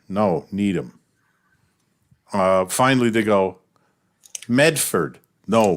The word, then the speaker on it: Medford: Finally, they go, Medford. No, Meffa. Oh, wait. And then he says, oh, wait, you're right. Because the only people who pronounce Medford, Massachusetts, Meffa, are the people who live there.